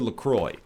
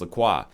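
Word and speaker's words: LaCroix: Whole Foods and you got two choices for lacroy and it is pronounced lroy much to my chagrin even though I think it should be pronounced laqua uh do you take lemon you take lime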